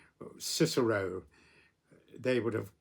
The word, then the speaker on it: Cicero: And equally, the the Romans, with names like Cicero, they would have pronounced it Kikero.